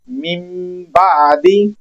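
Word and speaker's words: من بعد: मतलब ये है कि यहां पे मीम की आवाज आएगी तो इसको हम पढ़ेंगे मी बादी मी बादी यहां पर मीम की आवाज पैदा होगी इस नून को हमने साइलेंट करना है इस कानून को इकलाब करना कहते हैं।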